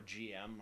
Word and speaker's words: GM: prefer to pronounce it I always pronounced it Jim because that seems to be how it's pronounced in the in the anime in the uh in the original Japanese but um whatever getting